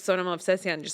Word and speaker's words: Sona Movsesian: for you it was like no my name's Sonoma Obsession you just have to learn how to pronounce it and I I think that I